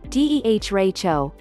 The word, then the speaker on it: derecho: prediction center said monday a deracho pronounced similar to deh racho is a widespread long-lived